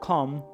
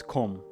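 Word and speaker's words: kom: It's because it's Swedish. Com. It's not com. It's com. K O M. And so they know that. Probably if I scream come right now. Come.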